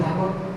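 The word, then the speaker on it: ث: সাথে ভিতরের সাইডে লাগিয়ে এখন তার বিপরীত জিহ্বার আগা এই দুই দাঁতের আগার সাথে লাগিয়ে এই হঠাৎ উচ্চারণ করতে হবে আমি দেখাচ্ছি আপনারা লক্ষ্য করুন থা থা অনেকে অনেক ওস্তাদের আওয়াজ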